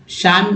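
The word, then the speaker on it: psalm: हूं अब देखिए श्याम शाम मींस होता है शाम मींस होता है यहां पी भी साइलेंट है एल भी साइलेंट है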